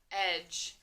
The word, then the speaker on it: edge: So first word, edge. Your turn. E-j. Edge. So this word edge has that soft G sound, which is going to make the J.